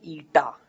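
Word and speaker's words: η: Viscosity, coefficient of viscosity इसको pronounce करते हैं ईटा, ठीक है।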